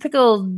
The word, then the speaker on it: pickled: now this is pronounced pickled duh this is the D sound okay I don't know